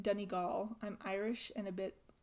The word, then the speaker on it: Donegal: By FYI, it's pronounced more like Donegal.